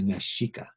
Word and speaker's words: Mexica: people called themselves the Mexica. The X in the language of the Native Americans in Mexico sounded like sh.